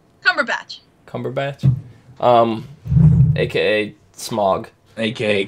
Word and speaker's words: Cumberbatch: Benedict cumber cumber whatever how how do you pronounce his name cumber batch Cumberbatch um AKA smog AKA con Sherlock yeah